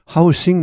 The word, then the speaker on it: housing: 발음 조심하시기 바랍니다. housing market이 아니고 명사일 때는 house죠. 그냥 S입니다. 무성음이죠. 그러나 동사가 되면 여기 잠깐 보시면 동일한 철자가 명사와 동사로 다 사용되는 경우 동사는 뒤쪽의 발음이 무거워져 유성음화한다. house가 house로 바뀝니다. 좀 발음이 무거워지죠.